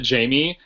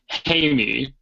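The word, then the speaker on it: Jaime: You know what's random is that I was listening to the audio book and they don't pronounce it Jamie. They pronounced it Hy. Oh. Instead of Jamie.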